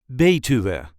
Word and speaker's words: Betuwe: we say be B there is a light emphasis on the first syllable b b to BTU the article that goes